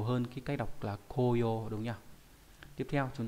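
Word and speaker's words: 紅葉: Ví dụ trong từ koyo là hồng diệp, là lá đỏ. Và đặc biệt trong một từ nữa cũng viết là chữ hồng, chữ diệp nhưng đọc là momiji, cũng nghĩa là lá đỏ thì khác với nhau.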